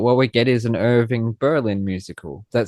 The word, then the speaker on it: Irving Berlin: And Irving Berlin, whose name I'm actually pronouncing correctly for a change cuz usually I'd say Irvine Berling or Irvine Berlin or Irving Berling.